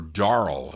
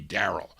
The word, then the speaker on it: Daryl: with one r or darl is that how you say it but it looks like darl no it's got to be Daryl Daryl you spell your